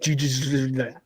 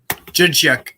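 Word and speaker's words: Dzsudzsák: Jacek? It's like DZ. It's like, what? Jidchuk.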